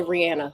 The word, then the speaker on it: Rihanna: And yes, we're going to say Rihanna because that's how you pronounce her name.